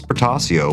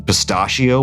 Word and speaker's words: Portacio: And someone's accused us in the past of pronouncing his last name Pistachio once.